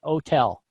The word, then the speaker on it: hotel: So a lot of Europeans will pronounce, especially French-speaking people, will pronounce the word hotel with a silent H. They'll say hotel.